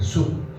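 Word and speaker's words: שוב: 여기 돌아온다는 말은 히브리 사람들은 숲이라고 그래요. 숲. 우리 양식 먹을 때 숲 먹죠. 발음이 똑같습니다.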